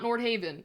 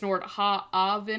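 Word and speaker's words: Nordhaven: Nord Haven it actually there's a correct pronunciation it's not Nord Haven it's Nord haen or something like that I don't know but they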